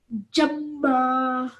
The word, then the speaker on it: جما: So join this to this with force. Jama.